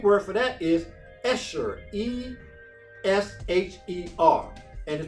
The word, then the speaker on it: esher: now the greek word for that is escher e s h e r and is pronounced esher and it means to be happy